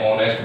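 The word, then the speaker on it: honest: good cut ठीक है यानी एस में एस साइलेंट रहता है जो इसका उच्चारण शुरू होता है वो ओ से शुरू होता है ऑनेस्ट ठीक है किससे शुरू होता है ओ से और ओ क्या है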